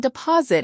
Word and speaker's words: deposit: And deposit has the stress in the middle, DPOS it.